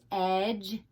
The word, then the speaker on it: edge: What letters don't we hear? What are the silent letters? Well, we don't hear the D. And what else? We don't hear the E. Okay, most of the time when the E is at the end of a word, it is silent.